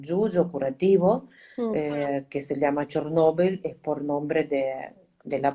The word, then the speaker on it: Chornobyl: racismo en ruso es chernóbil y en ucraniano chornobel Así que es un pedido de pronunciarlo toda correcta de hecho Nobel Chernobyl es